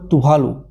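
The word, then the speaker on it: Tuvalu: হিসাবে কে যোগ দিল তুলু তুভালু উচ্চারণ করবে তুভালু কি উচ্চারণ হবে তুভালু এটা এটা বারবার খুব ভেবে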